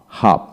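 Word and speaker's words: half: বি এল এম বাম এইচ এ এল এফ হাফ হাফ টি এ এল কে টক টক এখানে এল এর উচ্চারণ হবে না এল এর আগে এ আছে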